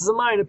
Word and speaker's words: Zemina: And it is pronounced Zemina, people.